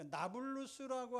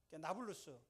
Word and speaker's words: 나블루스: 그 나블루스라고 하는 도시가 세워져 있는데, 나블루스라고 하는 그 이름은 아랍식으로 발음을 한 건데요.